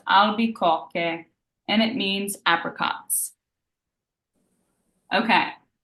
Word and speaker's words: albicocche: Okay, so A, L, B, E, C, O, Chi, Chi, H, E. And this is pronounced albicocche, and it means apricots.